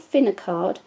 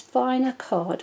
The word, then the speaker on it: FinaCARD: the name it's not spin a card it is fine a card which represents finely shredded card now Philips inspire card